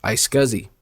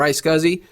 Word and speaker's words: iSCSI: FC there's also a less expensive option called ice scuzzy now regardless of which technology we choose to use Fiber Channel or ice scuzzy they function in basically the same way we